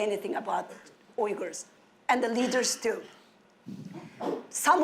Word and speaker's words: Uyghur: Or some of them are afraid of pronouncing it because it's difficult to pronounce. It's Uyghur.